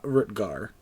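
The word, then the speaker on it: Rutgar: my last name shouldn't you offer yours uh rutger kind of like how it's spelled there except it disappeared are you two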